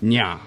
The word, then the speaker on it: Nyah: This advisor to Fri, wife of Odin, called herself Nyah, like the last syllable of lasagna.